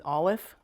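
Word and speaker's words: אָלֶף: It name is Olif. It's olif.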